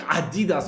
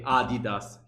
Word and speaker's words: Adidas: Adidas the brand bro I think Adidas only the Americans will pronounce it like that we all say Adidas here in Italy oh Adidas oh yeah